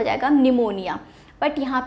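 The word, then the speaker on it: pneumonia: spelling हो शक्ति है बट उसमें पीस साइलेंट होता है ठीक है तो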